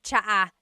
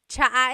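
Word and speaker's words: tsa: And it's spelled T S A. Cha. Cha. That's such a Tagalog spelling. I love it. There's the ts sound and then the double vowel uh pronunciation.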